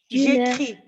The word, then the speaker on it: écris: J'écris. Ghanim, don't pronounce the S. Ne prononce pas le S.